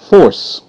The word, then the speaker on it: force: E is silent. Okay, up there top. Now, you see how that C made the S sound? S, because when C comes before E, I, or Y, it's going to make the S sound.